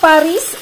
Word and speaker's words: Paris: pang i-pronounce po Basahin at i-pronounce kasi yung Paris ang pronounciation dito niyan is par Hindi po nila